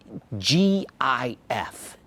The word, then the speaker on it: GIF: question before we get started how do you pronounce g-i-f it's pronounced gif but i used to get